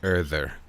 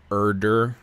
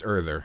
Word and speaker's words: Urður: That symbol, it looks like a D with a little line of it, it's pronounced like a TH, so it's Urður versus Urdur or Urdr. Yeah, it's Urður is roughly how it would sound in English.